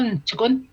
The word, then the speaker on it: Ntikun: Comme là, Ntikun. On l'entend pas, les I, je l'entends-tu? Ntikun. Ntikun. Mais on entend le T, par exemple. Mais le T, oui, il faut l'entendre.